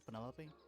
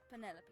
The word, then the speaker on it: Penelope: is that short for Penelope officially yes but I never can be bed with all four syllables of it Penelope sounds a little ostentatious